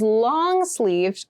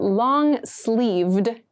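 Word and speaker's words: long-sleeved: we consider long and make sure you clearly pronounce that D sound at the end so not long sleeve but long sleeved shirt long sleeved shirts are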